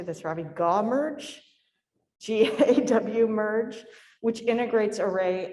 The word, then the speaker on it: GAW-merge: GAW-merge, G-A-W merge, which integrates array and whole genome sequencing data.